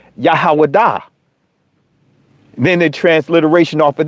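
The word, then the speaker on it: יהודה: Well, the actual ancient pronunciation is Yahawadah.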